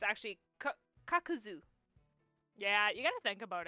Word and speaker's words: Kakuzu: oh like oh that's not how that's awesome kakazu is the way that I pronounce his name but it's actually kakuzu yeah you gotta think about it like from